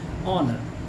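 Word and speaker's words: honour: ऑनर, एन ऑनर, H silent है यहाँ।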